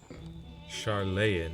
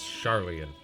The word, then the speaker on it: Sharlayan: charlan Quest chain it really looks like charlay in but but apparently it's charlian that's how you pronounce it we are